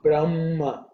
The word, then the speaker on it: Brahma: shawnaka section says that her should be pronounced as a chest sound so brahma okay so brahm who